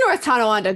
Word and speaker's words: North Tonawanda: is it north tonawanda it is north tonawanda good job you even pronounced it right wow i'm impressed um